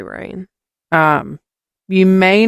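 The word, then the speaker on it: Rayne: town of rain oh I'm assuming that's how it's pronounced r a y n e yeah it's probably rain um you may not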